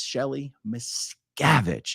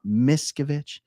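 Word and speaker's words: Shelly Miscavige: funnier when you do it's Shelly mavich it's hard on that second syllable mavich it's not misovich uh anyway um okay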